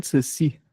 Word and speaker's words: Saussure: Ferdinand de Saussure, né? Ele é um nome francês. E a pronúncia, uma das primeiras coisas que todo aluno de letras tem que aprender no começo é a pronúncia.